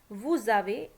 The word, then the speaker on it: vous avez: Okay, the verb avoir, note that s of the subject pronoun nous, vous, ils, elles is pronounced as an English z in the phrase nous avons, vous avez, ils ont, elles ont. So that's what I told you, because there is a vowel after s, so we will pronounce it as z.